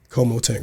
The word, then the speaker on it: CoMoTent: name I didn't even think KO tent grow Como tent grow Como tent grow yes hell yeah com tent grower Como tent grows whatever this mean like com tent grow